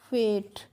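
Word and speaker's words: fate: [नाक से की जाने वाली आवाज़] एफ ए टी ई है तो एफ को हम फ पढ़ेंगे। ए को ए की मात्रा से पढ़ेंगे और टी को ट हो गया फेट।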